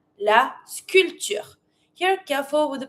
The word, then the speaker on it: sculpture: Then sculpture la sculpture. Here careful with the pronunciation. In English you say sculpture you pronounce the P. In French you don't. So you avoid the P and you just pronounce the T.